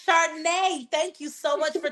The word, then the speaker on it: Chardonnay: So before we even get into it, Chardonnay, I think it's pronounced Chardonnay Solomon. like the drink Chardonnay. Chardonnay Solomon.